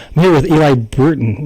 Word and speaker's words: Bruton: I'm here with Eli Bruton, right? Bruton. You got it. I can pronounce it correctly.